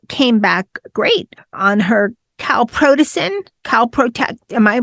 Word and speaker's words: calprotectin: Her test came back great on her calprotectin. Am I pronouncing? Calprotectin.